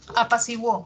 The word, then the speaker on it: apaciguó: Apaciguó. ¿Qué pasó en apaciguó? Hago el silabeo, separo en sílabas, encuentro un diptongo creciente, de cerrada pasa abierta, si, wo, ¿no? Ahí sí suena la U.